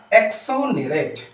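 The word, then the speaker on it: exonerate: व्याख्या next word है आपका एक्सोनरेट है ना एक्सोनेरेट भी बोलते हैं इसको। एग्जोनेरेट मीन्स क्या होता है?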